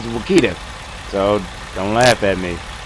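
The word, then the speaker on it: Wichita: wood in the Saga if you look up how to correctly pronounce it it is Wakita so don't laugh at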